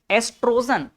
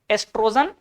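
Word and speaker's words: oestrogen: नाम क्या है एस्ट्रोजन ओ को थोड़ा साइलेंट मान के चलते हैं कभी-कभी तो आपको ओ स्पेलिंग जो दिखेगा भी नहीं ठीक है तो बायो में कुछ कुछ चीजों में ऐसा हो जाता है एस्ट्रोजन एस्ट्रोजन बोलते हैं क्या नाम है एस्ट्रोजन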